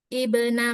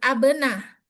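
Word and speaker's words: ابن: Ya, contohnya di sini Ibna Maryam bukan bukan abna tapi ibna.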